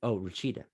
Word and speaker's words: Rachida: That was, I can't say, how do you pronounce her name? That was, Rachida.